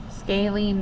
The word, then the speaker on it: scalene: it's called scalene so I'm going to write phonetically how to say it SC lean scaling triangle and a scaling